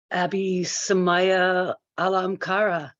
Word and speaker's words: Abhisamaya Alamkara: Abhisamaya Alamkara. Did I say it right? Yeah, very nice. Yeah, good pronunciation.